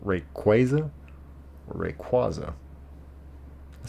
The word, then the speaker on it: Rayquaza: There's Rayquaza and there's Rayquaza. Do you have a hard A, like a capital A? Like Rayquaza or Rayquaza?